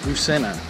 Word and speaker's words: Busena: Busena.